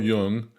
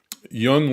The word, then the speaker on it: Jung: The concept of the human shadow comes from Carl Jung, which is spelled J-U-N-G, if you want to look it up.